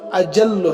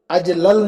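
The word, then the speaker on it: أجلّ: واضعین لغت اہل زبان سے اس کا تلفظ اجل ہے، اجلل نہیں، یا اجل ہے.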